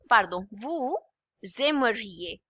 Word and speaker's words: vous aimeriez: It's pronounced as EA. EA. I is pronounced as E and EZ at the end is always A. So with vous, avec vous, it would be again S and A together, it would be pronounced as Z, okay?